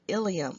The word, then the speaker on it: ileum: the jejunum and the last part is the ileum this is ileum I L II um the